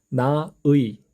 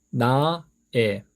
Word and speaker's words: 나의: 나의. 그래서 발음의 편리를 위해서 에로 발음해도 좋다. 결국 두 가지 발음으로 다 사용하실 수 있습니다. 나의, 나의.